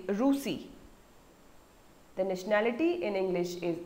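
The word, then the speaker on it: Russie: In French we say Rusi.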